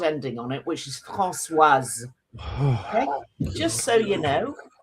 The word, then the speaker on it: Françoise: Françoise. No, Françoise. Not Francois. That's the French name. That's the boy's name. If you put an E after the S, you then put the hard ending on it, which is Françoise.